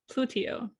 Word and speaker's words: Plutio: do you spell that it's like Pluto but plutio okay so Pluto like